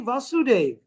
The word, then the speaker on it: Vasudev: Immediately, Vasudev here has a short A because Krishna's name is also Vasudev with a long A. So not to confuse the two.